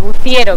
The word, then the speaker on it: Buciero: Buciero, con C.